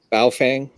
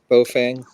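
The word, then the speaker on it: Baofeng: It's uh And we all say Ba Fang. Bofang. It's bofang.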